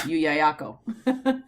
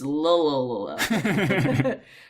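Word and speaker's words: Llullaillaco: So in Spanish, Yuyayako. Wow. If you're speaking English and don't know any Spanish, it's Lululula. But no, they were Incan,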